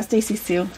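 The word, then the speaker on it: Stacy Hsu: Yeah, Stacy Sue.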